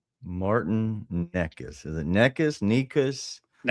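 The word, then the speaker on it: Nečas: Nikas. Nekas. All right. Need He's Czechoslovakian. I can't even I know Subie can't spell that.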